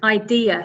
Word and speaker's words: idea: It's idea. So 3 syllables, and the stress is on the second syllable.